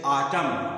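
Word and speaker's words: autumn: इसका मतलब होता पतझड़ आटम लेकिन यहां पर न का उच्चारण नहीं होता सो आटम आटम नहीं होता आटम आटम मतलब होता है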